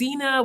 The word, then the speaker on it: Zenab: dropping it but yes i have a silent b at the end of my name and that's why my nickname since i was in high school middle school has been xena b gotcha okay i